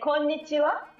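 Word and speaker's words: こんにちは: We say konnichiwa. Konnichiwa.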